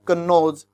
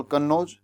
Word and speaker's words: कन्नौज: Place names and mark in Arabic and there are some well known names like कन्नौज इन उत्तर प्रदेश। हालांकि उसको लिखा इस प्रकार गया है, स्पेलिंग कुछ अलग बनती है, लेकिन कन्नौज ठीक, लेकिन है उसके अंदर।